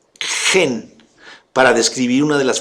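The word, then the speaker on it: חן: Ken se escribe k h e n ken en hebreo se pronuncia gen para describir una de las formas en que Dios se describe a sí mismo.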